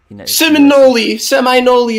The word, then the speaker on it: Seminole: Seminole, that's how it's said.